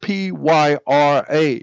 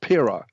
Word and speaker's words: pyramid: The word pyramid is actually pyramid, because it's spelled P-Y-R-A, not Pira, but Pyra.